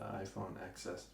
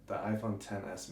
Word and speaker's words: iPhone XS: It's the iPhone XS Max. Okay, it doesn't have an X in it? X is the Roman. You're not supposed to pronounce the X.